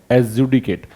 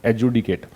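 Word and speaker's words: adjudicate: इसको पढ़ते क्या है? एजुडिकेट। डी का उच्चारण नहीं करना है, एजुडिकेट।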